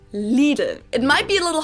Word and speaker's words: Lidl: america pronounce it little little obviously or literal or whatever americans i know say something like little while the correct german pronunciation is leaden it might be a